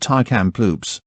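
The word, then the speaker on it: Tk'emlúps: the school buildings still stand today and is located on tar kamploop stuart parr first nations tar kamploop stuart par pronounced thai camp loops abbreviated and previously known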